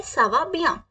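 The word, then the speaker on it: ça va bien: आई am very well so हम क्या बोलेंगे सावा बिया सावा बिया सावा बिया प्लीज रिपीट विद मी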